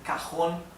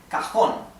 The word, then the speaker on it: cajón: So, it ends, so the accent is in the last syllable, right? So it is aguda. And it ends in letter N. So, it carries a tilde on the O, right?